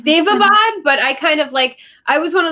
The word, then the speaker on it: Daevabad: I pronounce it a million different ways when I actually read the words. So I think that's normal for people when they're reading things. I mean, it's Daevabad, but I was one